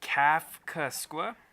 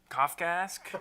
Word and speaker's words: Kafkaesque: Kafkaskwa. Not how you say That can't be right. Kafkaesque.